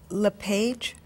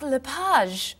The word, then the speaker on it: LePage: just a few minutes is your last name pronounced LePage it's Lapage actually oh that's beautiful thank you now is it MS Lapage or mrs.